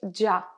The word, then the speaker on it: déjà: on va ce soir déjà et dja ici on va supprimer le e quand on parle à l'oral on ne va pas le prononcer par exemple si je